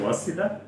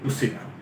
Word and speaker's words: ওয়াসিলা: এখানে আমাদের বাংলায় যে শব্দটা এসছে, কোরআনে এসছে ওয়াসিলা, সূরা মায়েদার 35 নম্বর আয়াতে। আমরা বাংলায় এটাকে উচ্চারণ করে থাকি উসিলা।